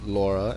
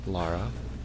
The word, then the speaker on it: Lara: But yeah, there's a difference between Laura and Lara. Yeah, there is. There's an extra letter in there.